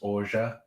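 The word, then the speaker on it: orgeat: called orga spelling it looks like it's called or yet um it seems as french i suppose there seems to be some common agreement that it's pronounced orja um but yes it's like traditionally an almond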